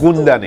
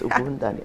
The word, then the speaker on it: Ugundane: You have to do the emphasis. Ugundane. Yes, Ugundane. All right.